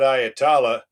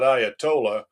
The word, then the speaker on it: Ayatollah: President, if we come out and kill that Ayatala, sorry, I need to pronounce it correctly. Mr. President, if we come out and kill that Ayatollah, we reckon that the population's going to rise